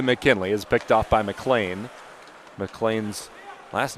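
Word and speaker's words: McLean: is picked off by Mlan. Mlan's last name is spelled Mlean, C L E A N, but pronounced Mlan, wearing number 27 as the second line center,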